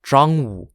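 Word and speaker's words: Zhangwu: Army North rather than West First and attacked drong z h a n g w u taking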